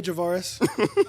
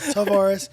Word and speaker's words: Tavares: He kept saying Tavares, and Jensen kept being like, "Okay, Javaris." No, Tavares. He's like, "You're saying Tavares or Javaris?"